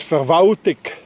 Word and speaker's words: Verwaltung: In Bern, that's being pronounced as Verwaltig.